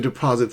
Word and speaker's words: deposit: Remember to stress the second syllable, not the first, not the third, but the one in the middle.